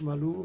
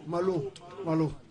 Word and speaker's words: Malo: Merci, coach Malou. Merci, Hervé Kofi. Merci à vous. Malo. C'est M-A-L-O. Non, j'avais bien prononcé Malo.